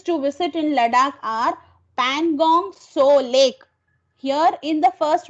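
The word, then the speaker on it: Pangong Tso: visit in Ladakh are Pangong So Lake. Here in the first one, T is silent, so it is Pangong So Lake.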